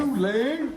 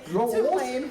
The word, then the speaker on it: Tulane: you know, I did not know how to pronounce who they were playing against, so I had to ask. Tulane. That is how you say it. So now I know how to say Tulane properly.